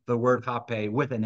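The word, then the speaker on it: rapé: there on the right, jape with an H, and the spelling, which starts with an R. And so in Portuguese, the R sounds like an English H.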